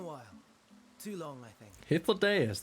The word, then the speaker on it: Hythlodaeus: Hythlodaeus, that's how it's pronounced. Too long I've been calling this fucker Hythlodius for a while.